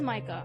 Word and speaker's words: Micah: he's avoiding me wait you pronounced his name as me I thought it was my ah are you me oh so it is Micah have I I don't